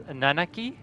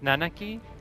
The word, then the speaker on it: Nanaki: It is Nanaki. It's Nanaki.